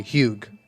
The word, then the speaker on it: Hugh: like hue but like you pronounce the g h-u-g-h but you pronounce the g huge okay my name is